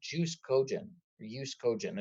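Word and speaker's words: jus cogens: So it is now considered is the Latin expression called jus cogent, if you don't pronounce the J.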